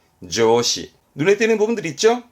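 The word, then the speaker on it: 上司: 발음은 조시, 조시.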